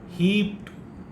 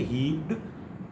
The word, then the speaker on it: heaped: Heaped, we say heaped, it is not d, but rather it is t.